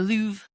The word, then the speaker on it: Louvre: The Louvre.